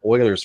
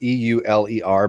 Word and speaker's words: Euler: We're going to do a real quick hangout on what's called Euler's formula and Euler's identity.